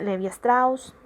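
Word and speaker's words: Lévi-Strauss: Según el etnólogo francés Levi Strauss, lo pronuncio como se escribe, el rechazo al extranjero es un modo de conducta propio e innato en el hombre.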